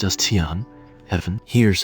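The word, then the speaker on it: 天: This character is pronounced as Tian, heaven. Here's how you can remember it. Heaven has two extra horizontal lines compared to human. One line stands above human, and the other confines human. Tian.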